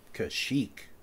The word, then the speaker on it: Kashyyyk: Not that you would necessarily need to know something like how to spell and pronounce the name of the Wookiee homeworld. Kashyyyk. Kashyyyk.